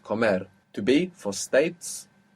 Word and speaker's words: comer: Comer. Accent on the end. Comer.